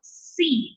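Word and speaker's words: שׂין: That is going to be pronounced exactly like our S. So Sin.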